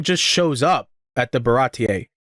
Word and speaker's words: Baratie: So, I didn't know that actually the pronunciation of the restaurant is called the Baratier. That's how it's pronounced. I thought it was Baritai for a good bit, but I was reading it.